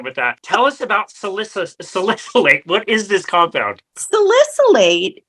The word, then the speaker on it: salicylate: so I did want to ask you about salicylate first of all did I say that correctly